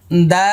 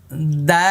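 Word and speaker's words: دال: দা, এই যে দেখেন দাল, শেষে লাম আসছে, এই জন্য আবারও মুখটা দেখেন কিভাবে করছে, দাল, ঠোঁট লাগাবেন না, দাল এরকম করবেন না, দাল, আয়না দিয়ে দেখে দেখে।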